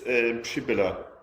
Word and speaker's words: Przybilla: Przybilla, did I say that? Or how do you say it? In Germanish, it's Przybilla. Okay. And originally it's Polish, and it's still different, so you're perfectly fine.